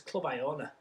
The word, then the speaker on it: Clubiona: Before I do review, I'll obviously pronounce it properly. It's a Clubiona.